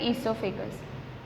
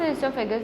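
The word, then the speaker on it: oesophagus: नाउ the food pipe ईसोफेगस, ठीक है, ओ silent होता है, ध्यान रखना इसमें।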